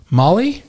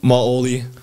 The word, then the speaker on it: Maoli: answer so favorite singer or band uh Molly Molly maoli oh maoli how do you spell it m a o l i to look